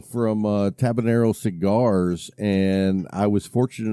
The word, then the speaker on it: Tabanero: last week is it is it tabanero yeah tabanero how about that a